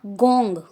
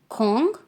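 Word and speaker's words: 공: देखो दोबारा से, योंग, खोंग, इट्स नॉट गोंग, खोंग, इल, ई, सम, सा, ओ, युक, चिल, नॉट चिल, चिल।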